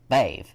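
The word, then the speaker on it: Badb: garlic to start off the first sister is babe which is spelled as b-a-d-b but pronounced b-a-i-b-v-e she is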